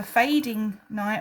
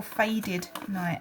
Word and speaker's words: Fading Night: I always say it's either fading night or faded night. And I always always say it wrong cuz in my head it's one way, but now I'm forgetting how it is. Fading. Yeah, I say faded. Fading night shaw.